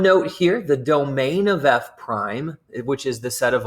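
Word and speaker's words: f′: the function f and it looks like f apostrophe but we're going to pronounce this f prime whose value at x is this f prime of x is equal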